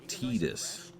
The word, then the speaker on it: Tidus: Listen, it's pronounced Tidus.